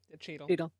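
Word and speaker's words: Chytil: Cheadle. Okay. Think of Don Cheadle. Cheadle.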